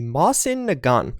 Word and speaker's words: Mosin Nagant: be one with an interesting name and interesting pronunciation of that name the mossen a gun and yes that's how you pronounce it I